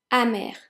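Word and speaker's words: amer: teach you today is Amir Amir so pronounce the same both in the masculine and the feminine just felt different as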